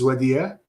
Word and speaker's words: Wadih: Jredini, is that how it's pronounced? Yes, yes. Hi, everyone. Yes, last name is Jredini. My first name is Wadih.